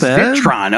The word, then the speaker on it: Zitron: It's pronounced Zitron.